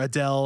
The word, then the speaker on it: Adel: ago, Sorceress Adel or Adele, I don't know how you say it. pronounce it. Adell, I Yeah, think. no, it's just ADL, ADEL. Oh, okay, yeah.